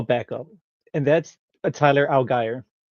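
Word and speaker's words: Allgeier: going to a backup and that's a Tyler Algy right now. He's RB20 Algy. I had I looked it up and he pronounced it alire. No way. Yes. Because I thought alier was just like obviously but the eie as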